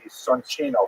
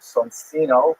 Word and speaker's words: Soncino: early printers were the Soncino family. I will probably pronounce it Soncino because I was born in North America, but it is in situ it would be pronounced Soncino.